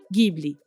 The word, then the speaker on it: Ghibli: uma palavra em italiano, Ghibli. Esse GH tem som de GU brasileiro.